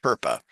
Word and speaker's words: FERPA: The Family Education Rights and Privacy Act, which when you take the first letters of each of those, it creates an acronym and it's pronounced FERPA. FERPA says, and it's again